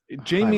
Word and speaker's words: Jaime: is his name Jamie it's Jamie is the American verion Hime is right okay all right but